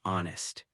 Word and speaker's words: honest: A common example is the silent H in the words hour or honest.